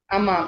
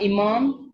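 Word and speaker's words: أمام: front of the room ये word को कैसे प्रोनाउंस करना है अमाम और अगर मैंने कहा इमाम तो वो गलत होगा क्यों इमाम इ द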